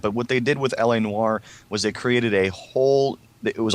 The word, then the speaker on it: L.A. Noire: She pronounced it Lenore. Lenore? Can I have that Lenore game? I want to play Lenore. It's about a 58-year-old grandma that's shopping. Yeah, L.A. Noire.